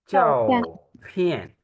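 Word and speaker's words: 照片: छो नहीं बच्चे चाओ जेड जेड एच जो है वो हम छ के से प्रोनाउंस करते हैं ना चाओ फियन ये लिखा गया है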